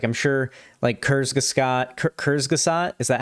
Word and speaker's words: Kurzgesagt: I'm sure, has done a video on it's Kurzgesagt.